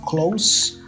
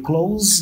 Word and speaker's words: close: For example, I live close to work, right? And we have the verb close with a Z sound. So you close the door.